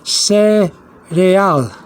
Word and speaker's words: cereal: And you see cereal, and I've written here cereal, which is pronounced cereal in Spanish.